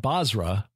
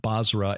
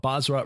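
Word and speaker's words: Bozrah: the son of zera of basra and again that's b-o-z-r-a-h not basra as in iraq uh yov the son of zera of basra reigned in his place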